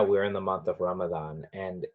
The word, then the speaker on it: Ramadan: And people, so it's the month of Ramadan, that's how you say it in Arabic, but when these terms are sort of transferred to Urdu, Hindi, Gujarati, and so on, Ramadan becomes Ramazan, because the same letter in Persian is a Z instead